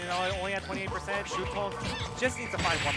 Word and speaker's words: Shuton: It's pronounced Shuton. I promise.